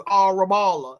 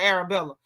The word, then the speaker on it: Arabella: She still can't pronounce it correct cuz she keeps saying sh like she keeps saying that girl name is Arabala instead of Arabella.